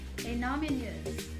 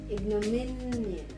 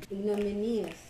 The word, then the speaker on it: ignominious: Innominous. Ah, sige. Ang tamang pronunciation ay... Ito, oh. Nasa mi ang syllabuses. Ignominious. Ignominious.